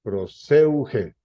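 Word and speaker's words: προσευχή: La palabra es la palabra griega que en el strong está como clave 4335 y se pronuncia proseuge.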